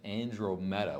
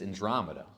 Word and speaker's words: Andromeda: I was pronouncing it Andromeda, which is what it looks like, right? But it's Andromeda, okay?